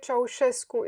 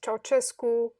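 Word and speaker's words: Ceaușescu: the, what's his name, Susesco, or Nicolae Ceausescu is how you would say his name in Romanian. yeah, Usually in English they pronounce it Ceausescu or something of the yeah.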